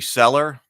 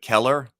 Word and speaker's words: Kellar: and somebody was like, it's supposed to be Cellar, like Cellar, but Kellar. But that always sounds weird to me. We already said Kellar's Keep. So, well, Cellar with a hard C or whatever.